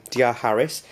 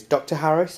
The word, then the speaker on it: D.R. Harris: First of all, I bought some cologne from D.R. Harris. It looks like the pronunciation is Dr. Harris and Co, but it's not. It's actually D.R. Harris. The D.R. is a initial.